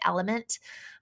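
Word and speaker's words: LMNT: lot is called element it's l m NT but you pronounce it element um and that one's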